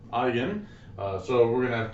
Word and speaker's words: eigen: some funny sounding words this is how we pronounce it eigen eigen so we're going to